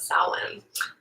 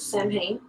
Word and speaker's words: Samhain: byoko and today we're going to talk about salon otherwise known as samhain as i've called it for many many years